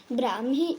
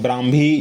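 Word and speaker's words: Brahmi: around 2000 years ago ब्राह्मी script the ब्राह्मी द ब्राह्मी या ब्रह्मी बोलिए द ब्राह्मी script was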